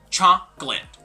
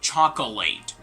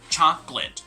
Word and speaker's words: chocolate: this is gonna be chocolate okay chocolate not chocolate but rather chocolate like there are two syllables okay chocolate two syllables now when you say